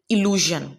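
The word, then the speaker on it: illusion: एलूजन, इल्यूजन, ठीक है, दोनों की प्रोनाउंसिएशन डिफरेंट है.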